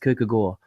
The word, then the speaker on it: Kierkegaard: Sartre and Nietzsche and Kierkegaard by the way I could learn from a Danish person that is pronounced cook ago but like as soon